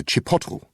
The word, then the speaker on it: chipotle: Sorry, I just can't decide between the ham salad sandwich and the chicken and chipotle wrap. It's pronounced Chipotle.